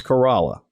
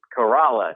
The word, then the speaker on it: Corolla: It's Corolla. Corolla. Corolla is the car. Corolla is the place in Currituck County on the Outer Banks.